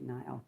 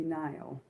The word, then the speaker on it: Nyle: Was it Nile? My bad. I might be saying it wrong. It might be Nyall. Um, yeah. No, it is Nyall because I'm thinking of Kyle. Yeah, Ron Kyle, sorry guys, it's his name is Nile DeMarco.